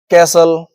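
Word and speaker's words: castle: इसके एग्जांपल्स हैं। देखिए कैसल लिसन विसल इनमें टी आ रहा है। देखिए लेकिन उसका उसकी जो साउंड है वो नहीं आ रही है। है ना? तो यहां पर क्या है? टी साइलेंट हो चुका है।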